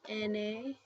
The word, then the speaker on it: ene: Then I have an ene. Ene is n.